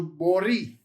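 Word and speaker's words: ברית: So it's bor-i, as in Christine, bori, and then you have your tau. But notice there's no dot. Tau without a dot is a th. So borith is your pronunciation there.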